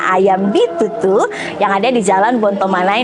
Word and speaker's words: Ayam B22: Ingat yang tulisannya Ayam B22, bacanya Ayam Bitutu, yang ada di Jalan Bontomanai nomor 1.